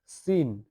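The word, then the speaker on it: س: শব্দ করতে হবে ঝা ঝা ঝা ঝা এরপরে সিন সিন সিনের কোন নক্তা নেই তিন নক্তাওয়ালা এই তিন দাতওয়ালা সিন একটা দাঁত দুইটা দাঁত তিনটা দাত এই তিনটা দাঁত খেয়াল করলে হবে যে সিনের কোন নক্তা নাই এটা সিন সিন এটা সিন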